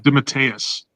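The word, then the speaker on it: DeMatteis: I think I think it's Dimatus. Dimatus. You're right.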